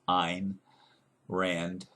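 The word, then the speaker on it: Ayn: little bit from uh in Rand a YN I think that's pronounced in Rand uh about government because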